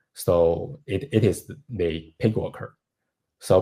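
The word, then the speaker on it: PyGWalker: the Pig worker so Pig worker is actually called the P python binding of graphic worker which you maybe you should call is p worker but you can pronounce y as I so called worker which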